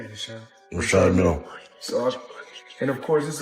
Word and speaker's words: Richard Mille: No, I like to call this, people pronounce them different ways. Richard Mille is what my jeweler told me, so. That's exactly how you say it, Richard. Richard Mille.